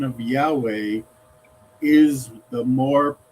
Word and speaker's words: Yahweh: 28 of the foreword, it says that the pronunciation of Yahweh is the more correct pronunciation.